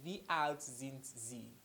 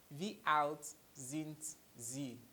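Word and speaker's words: Wie alt sind Sie: V out since Z V out since Z take note of my pronunciation it is not same it is in Z alright this S is pronounced like a Z V out since Z that is how old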